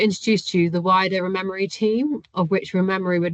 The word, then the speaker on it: ReMeMaRe: ReMeMaRe stands for Restoring Meadows, Marsh and Reef, pronounced ReMeMaRe, so called as we're remembering what we once